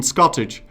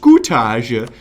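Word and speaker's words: scutage: You can put your vassals on Scottish, which is actually supposed to be pronounced Scootage, but Scootage.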